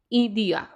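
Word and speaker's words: idea: नॉन नीो इदिया इदिया word जो है मतलब बोलने में डिफरेंट होगा। लिखने में आईडिया सेम ही है। लेकिन प्रोनाउंसिएशन यहां पर चेंज हो जाती है क्योंकि आई को इ पढ़ा जाता है।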